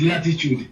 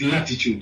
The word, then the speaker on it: L'titude: It's Latitude, L with an apostrophe, Titude. Because remember, an apostrophe is always representing a silent letter somewhere there. So yes, it's Latitude, you know.